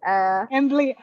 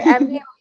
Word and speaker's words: amblyopia: Am, I don't know how to pronounce it. It's Amblyopia. okay, Amblyopia. Okay, Amblyopia.